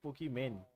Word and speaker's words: Pokimane: वो pronounce sir, वो pronunciation उसका वही है, पोकीमैन।